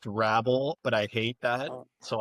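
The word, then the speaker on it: Hrabal: Is it horrible? Horrible? Horrible? It's correctly pronounced Rabol, but I hate that, so I just call him Rabol.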